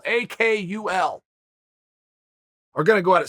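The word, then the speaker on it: Akgül: to you because gable a cool is i believe how you say his name turkish heavyweight i believe it's pronounced a cool akul we're gonna go at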